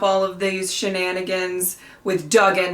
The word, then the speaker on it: Duggan: came through so Duggan not Dugan I kept saying Duke